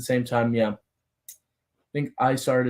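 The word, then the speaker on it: Isard: time yeah I think isart is correct since her nickname is ice heart ice heart yeah good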